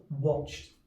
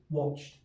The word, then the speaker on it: watched: at another one watched watched listen for the t sound at the end watched and then let's look